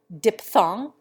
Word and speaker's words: diphthong: We change the F sound to plain P in diphtheria, diphthong, and naphtha.